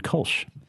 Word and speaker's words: Kolsch: Dennis Widmyer and Kevin Kolsch. You got it. You said it right. That's why they pay me no dollars. We always say it sounds like a German beer company, like Widmyer and Kolsch.